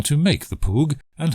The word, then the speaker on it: PWG: plain wavefront generator or pwg pronounced pug it takes an ordinary